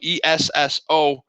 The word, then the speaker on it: Esso: in the office Soo Esso if you just pronounce it s o That's Standard Oil e s is s and then the O is oil so there's a you